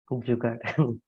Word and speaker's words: jugaad: We ourselves very proudly say, I don't know the correct pronunciation of the Hindi word, jugad. Jugaad.